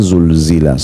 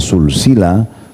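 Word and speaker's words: زلزلت: Tapi kalau kita tidak bedain, kita bacanya pakai sin, isa sulsila, silsila sulsila itu ya bisa berarti bersambung-sambung, ya, jadi berbeda makna.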